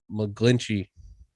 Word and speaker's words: McGlinchey: it's okay we have uh 49ers right tackle mcglinchey is that how you say his name yep taurus quad dunzo out for the year yeah mike mcglinchey he's like man i just can't fathom yeah